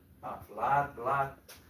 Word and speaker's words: blood: This sounds like, if you see, it sounds like okay, but it's not because it's like blood. But here it's book.